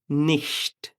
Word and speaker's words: nicht: এটা ইস না, ইস। তালবস্য এর খুব কাছাকাছি। বিড়াল যেমন খুব হিসিং সাউন্ড করে, ওরকম। ইস, Küche, nicht, welche এটা সেহা।